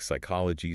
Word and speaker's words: psychology: I mean, we see the exact same hardware failure with the Greek PS combination, words like psychology, psalm, or pseudo. Oh, yes. The P is totally silent for us.